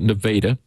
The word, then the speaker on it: Nevada: called Nevada Missouri that's spelled like the state of Nevada but the locals pronounce it nadaa and uh uh up